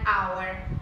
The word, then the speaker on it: hour: Pero si esa H es muda, vamos a decir, por ejemplo, an hour or an honor, ¿ok? Porque esa H no se pronuncia la siguiente vocal de la palabra.